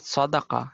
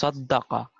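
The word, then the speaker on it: صدّق: Okay, and swad, da, and qaf means no, it's not sadaqa, it's saddaqa.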